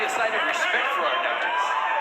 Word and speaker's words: Arnaoutis: And that is the pronunciation, by the way. We did check with Mighty Mike today because announcers seem to have a big problem with his name. We hear Arnaoutis, Arnaoutis. It's Arnaoutis.